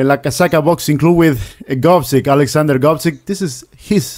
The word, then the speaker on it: Gvozdyk: This is the way of my pronunciation. Pronunciation is really bad. So, GVOZDYK. Yes. There you go. GVOZDYK.